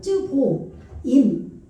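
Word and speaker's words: צְבֹיִים: 이거를 쯔보임이라고 해요. 여기에 이렇게 오가 와가지고 아 발음이 아니고 쯔보임 이렇게 되는 거죠.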